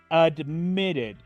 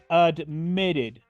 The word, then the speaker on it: admitted: Cómo pronuncio la Ed admitted admitted la Ed final de este verbo la pronuncio como una ID usemos ahora el verbo